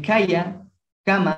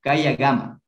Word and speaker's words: kayakama: El kayakama en algunas partes se lo pronuncia como la gama, kayagama, ¿sí?